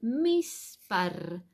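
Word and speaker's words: מספר: Cómo se dice número en hebreo se dice mispar mispar Con m de mamá m i s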